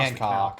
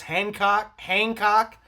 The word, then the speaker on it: Hancock: Because everyone in my family pronounces it as Hancock. I'm the only one who pronounces it as the way it's supposed to be pronounced, Hancock.